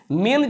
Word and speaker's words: main: देखिए MAIN, अगर ऐसा बात आ गया जैसे ए के बाद आई आ जाए तो भी ये मे हो जाता है, उसका उच्चारण मे करते हैं, मे। ए के बाद आई आएगा तो क्या करेंगे हम, यही इसका उच्चारण जो है आई साइलेंट हो जाएगा, आप हो जाएगा इसको मे।